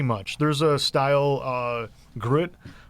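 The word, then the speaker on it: gruit: there's a style uh grit i believe is how you pronounce it that doesn't have any hops in it um but that's really about it what's it called grit g-r-u-i-t group and what does that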